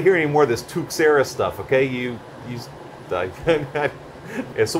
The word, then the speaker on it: Tuxera: happy hour afterwards and the one guy pronounced it tuera but then the other guy went on to tell me it was named after tux from Linux and that's definitely tux so I don't want